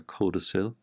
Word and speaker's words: codicil: and you can add a little codicil or a codicil that's the correct pronunciation of a little extra